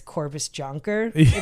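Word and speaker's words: Cobus Jonker: pronounce these names yeah phonetically it's corvus jonker i was going to read it yeah so the unit was disbanded in 2000.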